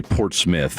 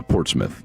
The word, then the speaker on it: Portsmouth: Uh, probably Port Smith would be the the looks like Portsmouth, Ohio. It's Yeah, Port Smith is probably how it's pronounced where they were known as the Spartans.